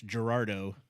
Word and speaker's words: Gerardo: If you don't know how to roll your R's, it's Gerardo, which is just a cool name.